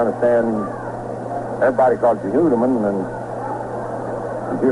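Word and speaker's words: Houtteman: Of course, the strangest case of pronunciations is that of Art Houdeman. His father called it Hoodeman.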